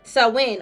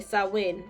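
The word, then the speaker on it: Samhain: in the ancient Celtic Festival of saman I hope I said it right sawin okay sawin okay sawin a pagan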